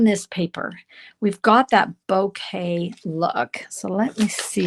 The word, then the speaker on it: bokeh: It's a Japanese term bouquet. B O K E H is how you spell it.